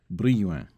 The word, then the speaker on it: Brillouin: So that's a French pronunciation, Brillouin.